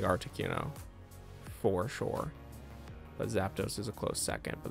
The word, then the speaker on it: Zapdos: zappados what's happened zap zapdos i know a lot of people pronounce that zappados anyway boom i think